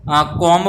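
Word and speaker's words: comb: के इसमें साइलेंट है दूसरा सी नंबर इसमें अपने को कॉम बोलना है जान की जो गंगा होता है उसका अपने इंग्लिश में कॉम बोलते हैं तो आईटी मिंस क्या होगा इसमें बी जो है वो साइलेंट है बी का इसमें साउंड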